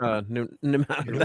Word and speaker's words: mnemonic: How do you say mnemonic?